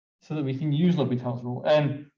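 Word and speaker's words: L'Hôpital: you all to say l'hopital not the hospital as some people like to say it is a french name it is pronounced l'hopital so um l'hopital's rule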